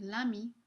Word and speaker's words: l'ami: So we have l'ami, we pronounce it basically like it's all one word.